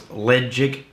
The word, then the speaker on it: Ledaig: find a lot of arguments over how to pronounce that correctly um the best advice I've gotten from a local was legic um like l d chig g but make